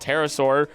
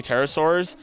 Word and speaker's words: pterosaur: So this big old pterosaur, oddly enough, if I remember correctly, pterosaurs, remember, the P is silent when it goes to the bathroom.